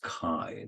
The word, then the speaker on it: chi: Greek letter Kai now in spite of the way it's spelled it's pronounced Kai like Ki let's say